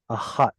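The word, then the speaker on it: אחת: The dalet and the tav are pronounced so close together that they actually assimilate one into the other, and all we're left with is ahat instead of achadet.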